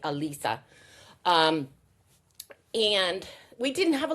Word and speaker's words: Alisa: And they never said my name right. So I would always have to spell it phonetically, like Aleesa, to get it to say Alisa.